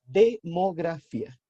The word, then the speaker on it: demografía: La demografía. Yo bajé de peso. ¿Jerry bajó de peso? Pucha, yo no, Jerry, ojalá fuera tú. La demografía. Con acento en la I, si no me equivoco.